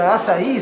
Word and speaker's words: açaí: People sometimes don't know how to pronounce our main product, which is the açaí, so we made it this way.